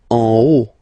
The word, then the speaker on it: en haut: En haut, en haut. Okay, final T not pronounced, and then this H as previously, you don't pronounce it, so this is O.